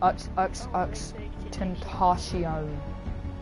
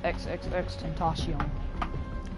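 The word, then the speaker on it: XXXTentacion: It's Tentacion. I looked up how to pronounce his name. He says Tentacion. He said XXX Tentacion. That's what he says, XXX Tentacion.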